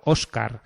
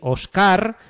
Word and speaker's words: Óscar: Porque si no ponen la tilde, hay que decir Ócar, Víctor y Héctor, ¿no? Y no es así. Estos nombres se pronuncian Óscar, Víctor, Héctor, ¿vale?